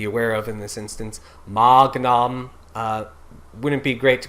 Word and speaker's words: magnum: of anyway um you you can in these instances where it's magnum um change it to a slight k it's not great but